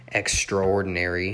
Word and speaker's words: extraordinary: that runner is an extraordinary athlete as you can see there i pronounced it more like extraor with only five syllables but you can also pronounce it extraordinary with six syllables okay seven and eight